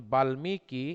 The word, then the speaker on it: বাল্মীকি: বলবো বাগ্মিতা, আমরা বলি বাল্মীকি। এই যে এই ধরনের এই শব্দগুলোর সাথে যদি কখনো ম ফলা থাকে তাহলে ম ফলা দ্বিত্ব উচ্চারণ হয় না, ম ফলা সরাসরি উচ্চারণ হয়ে যায়।